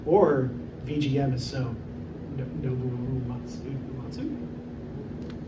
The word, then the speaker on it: Uematsu: Or VGM is so Nobuo Uematsu. How do you pronounce it?